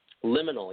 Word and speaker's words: Liminal: Liminal, yeah. Is that how you say it? Liminal. Yeah. Okay. Liminal. Liminal. Okay. So Give me a little bit of information about that. Yeah. So liminal is like the suffix of subliminal.